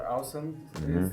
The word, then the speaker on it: ULSUM: Alright, so our name is called ULSUM, which is the same pronunciation as awesome.